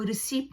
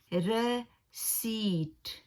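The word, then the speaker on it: receipt: लेकिन इसका जो सही जो प्रोनाउंस है वो रिसीप्ट नहीं है, ये रॉन्ग हम लोग प्रोनाउंस करते हैं, ठीक है। और उसका सही प्रोनाउंस है रसीट, रसीट, रसीट, ठीक है।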